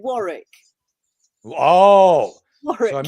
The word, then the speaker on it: Warwick: I want to hear the way you say it Warwick Warwick we call it Warick oh War so I'm